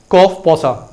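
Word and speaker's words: COFEPOSA: हाँ, हालांकि मुझे तो इसको प्रोनाउंस करने में थोड़ी सी वो लगती है, मैं इसको बोलता हूँ कॉफ पोसा। क्लियर। आप कैसे भी बोल सकते हैं, कॉफी पोसा कैसे भी बोल सकते हैं।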